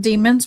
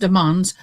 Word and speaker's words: Demons: Um Jamal Deans, not Demons, but is pronounced Demans, known officially as YN W Melly, already faces